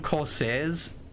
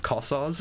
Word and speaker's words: Kossar: In my brain, you keep calling them Corsairs, like Blackhawk Corsairs instead of Kossars.